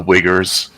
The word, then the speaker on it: Uyghur: Those are my people that are being killed, the Uyghurs, not the Uyghurs or whatever. Be careful. So they actually pronounce.